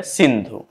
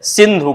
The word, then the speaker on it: सिंधु: परंपरा कैसे हो तो स का जो उच्चारण है वह ह के रूप में हुआ और ध का जो